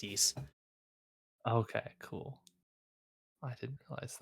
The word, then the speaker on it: Ys: But that's the action RPG series is pronounced Yeast.